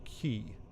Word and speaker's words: Quay: Donkey Kong Country to that Quay quu a y is actually pronounced key so I'm guessing the